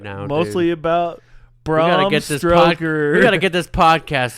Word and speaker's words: Stoker: So, the inspiration for Bram Stoker's Dracula.